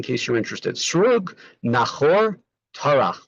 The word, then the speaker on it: Terach: Srug, Nachor, Tarach. We usually call him Terach, but of course when a gets changed, the translation, the pronunciation, when it's the end of a verse or on the etnachta.